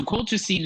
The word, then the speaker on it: colchicine: I hope I pronounced this right, Colchicine.